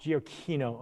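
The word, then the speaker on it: Giacchino: and michael you know is that how you say it it's g aquino gio kino okay um uh michael jacquino who's just you know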